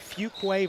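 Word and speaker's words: Fuquay-Varina: Had to look at I had to look up how to pronounce that town. I'd never seen that before. Fugquway.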